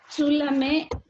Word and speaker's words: tu l'aimes: ¿Tu l'aimes? Aquí es presente. L'expo. Ok, hagan bien la diferencia cuando es presente, que no se pronuncia al final, tu l'aimes, y cuando es pasado.